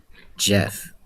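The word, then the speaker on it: Geoff: It's a I I'm not sure how they're related, but there's a new company called Jeff. It's spelled Ge O FF.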